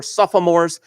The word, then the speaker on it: sophomore: Of the students, 22.5% were seniors, 25% were juniors, 25% were sophomores, and the rest are freshmen. Did you ever see that O in the middle of sophomore? Did you ever pronounce it?